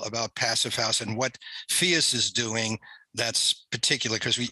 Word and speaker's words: PHIUS: do you say it, phius or phius, Katrin? Phius like, okay. Prius, right? Like phius we like want to Prius.